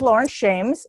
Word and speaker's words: Laurence Shames: This is Laurence Shames.